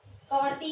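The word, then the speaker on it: Kavaratti: और यहाँ पर है हमारी लक्षद्वीप की है कवरती, ठीक है, इसको कावारती भी बोल दो आप, प्रोनाउंसिएशन शब्द अलग अलग मिलेगा आपको।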